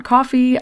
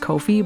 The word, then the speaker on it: Ko-fi: tip me over on coffee I'm not monetized yet so any support is greatly appreciated or or or Kofi apparently it's pronounced Kofi but their icon is a coffee cup and it also says